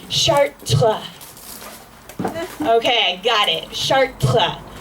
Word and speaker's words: Chartres: So he goes, no, Hannah, it's not pronounced Chartres, it's pronounced Chartres.